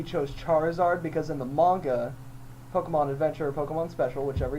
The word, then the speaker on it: manga: gonna correct you here it's generally pronounced manga oh man game actually